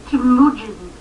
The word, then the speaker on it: Temujin: 7 or 8 takes just to try to pronounce them. It's crazy. That's not his name, Dave. His name is Temujin.